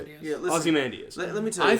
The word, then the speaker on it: Ozymandias: Yeah, Ozymandias.